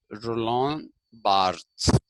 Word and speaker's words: Roland Barthes: and myth constructions and his name is pronounced roland barthes okay it is pronounced roland barth gives us another example